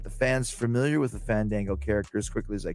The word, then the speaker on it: Fandango: Fandango.